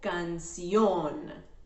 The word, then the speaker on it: canción: Should we say canción o canción? The correct one is on the O, canción. That's the strong part of the syllable.